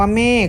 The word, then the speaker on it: เมฆ: ใช่ ไหม ครับ อ่า แต่ เวลา อ่าน ออก เสียง คำ ว่า เมฆ ก็ ยัง ท้าย ของ คำ นั้น จะ เป็น เสียง ของ ก ไก่ แสดง ว่า เขา มา